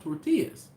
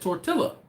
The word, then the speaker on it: tortilla: And I said, 2 L's in Spanish is pronounced as a what?